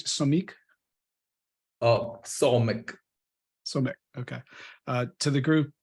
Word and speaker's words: Somik: I want to welcome Andy and Fahim, is new and how do we pronounce it? Somik? Somik.